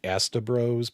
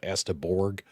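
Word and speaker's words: Asteborg: I always want to say Demons of Astabros, but it's Demons of Astaborg.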